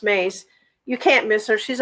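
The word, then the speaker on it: Myss: MSS is is pronounced Mace.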